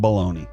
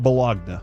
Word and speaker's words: bologna: I don't eat a lot of bologna. All right, cuz it's spelled weird. But really, yeah, man. It should be B L A L O N E Y. Like, that's how bologn, not Bologagna.